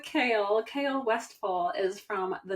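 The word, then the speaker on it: Chaol: us about kale westall AKA Cole AKA CH everyone has a different pronunciation CH yeah but we're going with kale kale westall is from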